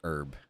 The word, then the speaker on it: herb: So apparently the H isn't silent. It's not herb. It's herb. Not like Herbert.